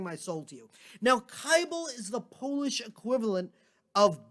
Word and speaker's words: Kibel: actually to be honest there's even different pronunciations within the family tree uh my people we say kaibal but there are there are kin folk who pronounce it differently so we'll we'll let